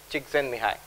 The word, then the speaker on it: Csikszentmihalyi: Tal Ben-Shahar, and also incidentally the work of Professor Mihai Csikszentmihalyi. And yes, that's how you pronounce it.